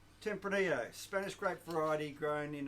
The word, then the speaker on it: Tempranillo: it's a Spanish word it's a Spanish great so we get poncing pronounces a Spanish way Tempranillo we say it the way they say it cuz they bloody well made it indeed well what